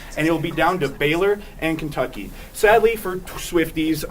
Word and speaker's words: Baylor: We got Washington State and Baylor. George Washington has been dead for so long. So long. It doesn't even matter. But Baylor here rhymes with Taylor.